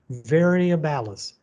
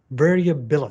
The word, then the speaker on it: variabilis: small clams called donax variables variabilis sorry i mispronounced that so i know don't